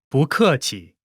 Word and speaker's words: 不客气: When 不， is followed by a fourth tone, its tone changes from the fourth tone to the second tone.